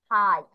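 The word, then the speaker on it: high: আর লাস্টে আমি ই বলছি, এখানে জি এর উচ্চারণ ই মতো হয়ে গিয়েছে, গ বা ঘর মতো হয়নি, যেটা হওয়ার কথা ছিল।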